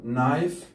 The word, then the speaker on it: knife: no لا نقول كانو، أيضا knife لاحظ knife سكين، أيضا الـ K بعده N الـ K لا تلفظ.